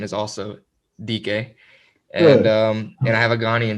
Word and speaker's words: Dike: Moving on a little bit, you have the DK family. That's how you say it, right? DK? Yeah, DK.